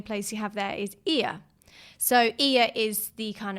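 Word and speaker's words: Oia: then another main place you have there is Ia.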